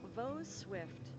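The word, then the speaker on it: Vaux: I will try and remember that this is pronounced vo for next time I play, but I will more than likely forget.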